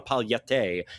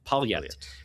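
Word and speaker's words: palhete: So um pal and then an H in Portuguese is always a Y sound. So and then you it's not a palette. It's just you just pronounce it palette.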